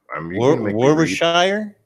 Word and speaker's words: Warwickshire: I wonder if I can get you to pronounce this. Gleckenshire. I think I'm actually spelling it wrong, but Are you Warwickshire?